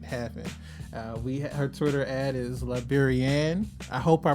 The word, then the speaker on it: Liberienne: The correct way to say it is Liberian.